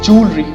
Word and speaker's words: jewelry: It's jewelry. The correct pronunciation is jewelry.